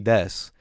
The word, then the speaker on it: desu: say wha and you don't need a set pronounce the U and death so you could just say kawaii kawaii desu to the person you if she wanted to